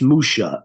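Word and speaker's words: משה: Aramaic pure Aramaic you they would not be saying Moshe they would be saying Musha in the Aramaic it's Musha m u ha is his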